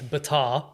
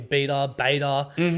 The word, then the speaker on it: Batar: So my last name's Batar. Everyone calls me Beta.